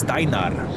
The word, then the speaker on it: Steinar: It's Steinar. New devs, hire some voice acting from my side for proper pronunciation and not just the British versions over there.